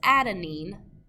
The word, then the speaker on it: adenine: The second one is cytosine, the third one is adenine, and the fourth one is thymine.